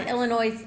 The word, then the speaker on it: Illinois: is joining us for Illinois Illinois I think the S is silent isn't it Lawrence there's no s